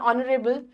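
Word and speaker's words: honorable: Always remember we also right N ऑनरेबल since H is silent and the word begins with O sound.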